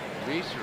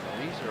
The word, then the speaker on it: Reiser: Reiser is 1 for 3, and that's one of those names that I've been mispronouncing for years and years and years, until I learned that it's pronounced Reiser, not Reiser.